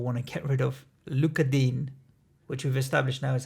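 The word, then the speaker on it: Digne: that we all want to get rid of Luka Dean which I've established now is how you pronounce his name look at do we the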